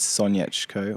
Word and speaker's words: Sonyechko: content at the moment Spotify my name is soniachco which is s-o-n-y-e-c-h-k-o and my Instagram is soniachco